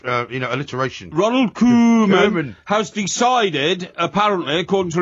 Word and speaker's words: Koeman: his name tonight then kman is how you pronounce it k e m a n spells kman okay does it spells kman he's Dutch Ronald kman okay Ronald kman